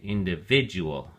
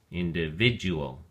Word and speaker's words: individual: at your flash card individual has five syllables and the emphasis or stress is on the third syllable vid so we say individual individual in Spanish individual and